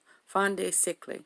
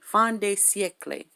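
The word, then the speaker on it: fin de siècle: I'm sure it's Fin de Siecle. Fin de Siecle. Fin de Siecle. That's how you say it. Fin de Siecle, and it means the end of the century, right?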